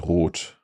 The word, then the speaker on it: rot: And the long one was Rot. Genau, just with a single T after the word for red.